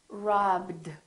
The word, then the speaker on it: robbed: do we say wrapped no this one is not a t this one is robbed so this one becomes a d so we have three